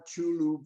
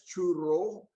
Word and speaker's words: Chulu: Now, Camp Chulu was built in Chulu, pre-war Chulu village. In the books, you will see it written as Churro with an R O simply because it was mispronounced by the Japanese.